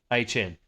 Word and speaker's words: Hn: Uh, the the correct way to say to say Travis's name, we found out from Travis, is actually HN. What? Hen. Hen.